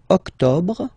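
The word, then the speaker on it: octobre: then same thing here don't insist on the final octob octob octob no no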